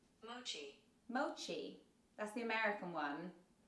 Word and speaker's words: mochi: it says the connect correct pronunciation of Mochi in Japanese is mochi Mochi so there you go Mochi guys not Moki mochi I got an